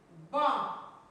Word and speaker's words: banc: Un banc. Ici encore, il y a une lettre qui est sourde, on ne la prononce pas, la lettre muette.